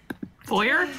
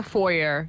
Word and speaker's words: foyer: say foer fo fo foyer or foyer you can say it either way okay I'm hit I'm